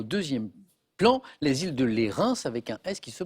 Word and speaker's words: Lérins: au premier au deuxième plan les îles de lérins avec un test qui se prononce exactement l on voit la photo donc